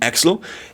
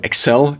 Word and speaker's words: Excel: but it's also a merger between axle and x so excel is the proper pronunciation in i think american english or british english i switch between those